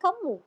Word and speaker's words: கம்மு: காமுன்னா அது வேறடா. சரி. இருங்க ரோஷ் ப்ரொஃபசர் நீங்க சொல்லுங்க. அடுத்து பிரதீப் கை தூக்கியிருக்காப்ல. நீங்க சொல்லுங்க ரோஷ். ப்ரொஃபசர் நீங்க அத தப்பா ப்ரொனவுன்ஸ் பண்ணீங்க. அது கம்மு, காமு இல்ல, கம்மு.